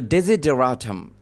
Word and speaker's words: desideratum: Daisy বলার পরেও এখানে কিন্তু SI আছে, DESI, ডেজি।